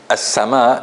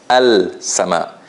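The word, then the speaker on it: السماء: In the word as-sama, it's obvious that we didn't pronounce the lam. Because if we did, we would have heard it. We would have heard al-sama.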